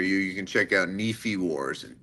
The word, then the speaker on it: Nife: you can check out Nephi Wars. N I F E. Like it sounds like a knife. Mhm. It sounds like it'd be pronounced knife, but it's pronounced Nephi.